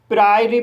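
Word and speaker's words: priory: इस वर्ड में पी को पढ़ा जाएगा। आर को र पढ़ा जाएगा। आई को आई पढ़ा जाएगा। ओ साइलेंट रहेगा। आर को रा पढ़ा जाएगा। वाई को इ पढ़ा जाएगा। इस तरह से इसे प्रायरी पढ़ा जाएगा।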